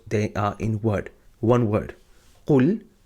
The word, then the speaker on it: قُلْ: Qaf dhamma lam sukun qul. I remember teaching you in chapter number 5 that when we have a silent letter, we never read it on its own. We always read it with the letter that is before it.